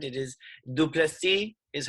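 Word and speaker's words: Du Plessis: It is Duplessis is how it's pronounced, and he got the win.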